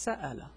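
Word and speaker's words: سأل: This is pronounced sa'ala because there's a fatha here.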